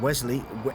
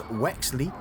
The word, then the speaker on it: Wexley: I said their name wrong. I said Wesley. It's Wexley, and getting away from them.